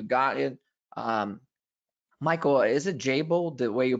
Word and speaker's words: Jabil: Michael, is it Jabil, the way you pronounce the name of the company? Yes, Jabil.